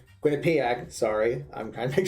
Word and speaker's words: Quinnipiac: of relief for me now so now I'm quinnipeg Quinnipiac sorry I'm trying to make sure I pronounced it correctly we'll choose our next opponent